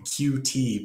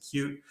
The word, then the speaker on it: Qt: pronouncing the uh the QT project the way they want it to be pronounced it's actually not QT they want it to be pronounced cute um so so this